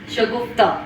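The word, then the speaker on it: شگفتہ: اسمهای مؤنث شگفتا همون شکفته فارسیه، با اختلاف اینکه کاف تبدیل به گاف میشه و تلفظش میشه شگفتا.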